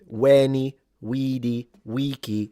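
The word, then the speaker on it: veni, vidi, vici: it implies this is supposed to be classical Latin in the reconstructed pronunciation, which of course I know you all know it. Weni, wedi, weaky with all the vowels long.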